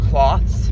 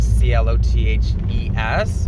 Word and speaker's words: clothes: i was like i i answered with the word cloths because that's how i pronounce the word c-l-o-t-h-e-s but it's clothes but it looks like cloths and and instead of like